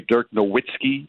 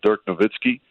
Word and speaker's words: Dirk Nowitzki: But, sometimes it gets caught up in the American way to pronounce it. And there's still some people that say Dirk Nowitzki as opposed to Dirk Nowitzki.